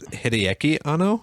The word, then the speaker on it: Hideaki Anno: Hideki Anno. I definitely was like, I Also want known as Hideaki Anno.